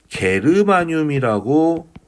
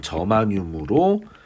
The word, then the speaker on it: 저마늄: 외국인 친구 데려다놓고 이거 미국인 친구 데려다놓고 이거 읽어보라 읽어보라고 하면 게르마늄으로 발음 안 합니다 늄 이렇게 발음을 해요 그래서 우리나라도 이제부터는 저마늄 공식 명칭으로 요렇게 부르기로